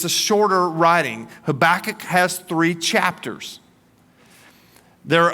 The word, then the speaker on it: Habakkuk: Now, to pronounce his name, it's it's almost like you know how a cat gets a furball in their throat. That that's kind of you got to have that sound to it. Okay. Habach.